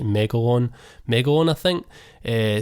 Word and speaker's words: Megalon: remember how you say it's not megalodon like the shark it's like megalon mega one i think